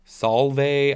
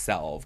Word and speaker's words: salve: because I was like do you pronounce it like Salve or like Solvay I don't know but it's just Salve I was all over